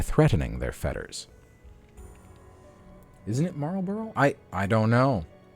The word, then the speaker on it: Marlboro: malt moral borrow I I guess I've never actually heard that cigarette brand pronounced despite how popular it is wow anyways marble Marvel I'm gonna stop trying this deal takes the shape of a fetter Marlboro that's what I thought too I know the r